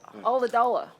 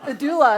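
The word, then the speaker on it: Ulladulla: Ula-dula- Oladola. Oladola. No, that's a lot. I used to say Adula, and they all made fun of me.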